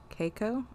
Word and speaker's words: Keiko: caco cake coco yeah keiko okay like cake with an o cake oh cake okay